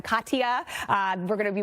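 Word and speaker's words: Katia: we have tropical storms Cadia even Katya that's the way you pronounce that one Katya uh we're going to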